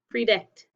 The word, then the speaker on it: predict: what's this one pre-day it's just an e because that's an open syllable predict okay let's do a